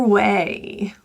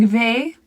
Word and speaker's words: way: The word way, many people struggle with W's, so it may sound like ve. We want to get those lips really, really protruded away from your top front teeth. The vowel in way is a diphthong, meaning two vowels. A, way. A. So if you do drop diphthongs, it would sound like we. Either way. So add a little extra E in there.